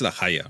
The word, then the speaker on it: La Haya: Well, I'm going to talk a bit about La Haya. It's La Haya, right? I want to be sure I'm saying it correctly. Yeah, you say it correctly because Gascon is more closer to Spanish than French.